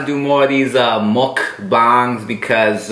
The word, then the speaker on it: mukbang: So they're spelled mukbang. M-U-K. Okay. Oh. Bang. Okay. All right, but they're pronounced mukbang. It's Korean. Mukbang.